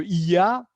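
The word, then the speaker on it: Oia: Les marins de Iya, hein, ça s'écrit Oya, hein, juste pour l'info, mais Oi, c'est une diphtongue, hein. Il y a 5 I en grec, hein, c'est un peu compliqué, mais ça se dit Iya.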